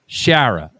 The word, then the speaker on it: Schara: Schara. So the C is silent then.